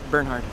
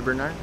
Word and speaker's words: Bernhard: you say your name Bernhard Bernhard with a d Berard D Bernhard D with a d you're calling me Bernard Bernard we we said Bernard